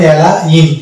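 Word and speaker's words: align: এন লিখতে পাচ্ছি আমরা তাহলে এটা উচ্চারণ হবে এলা ইন এখানেও জি থাকছে এবং উচ্চারিত হচ্ছে না জি তারপরের শব্দ দেখতে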